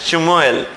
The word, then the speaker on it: Shmuel: इसका प्रोनाउंसिएशन थोड़ा अजीब है, शमुएल, SHMUEL।